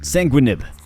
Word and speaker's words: Sanguinib: We're going to say that that second G is silent. Sanguinib.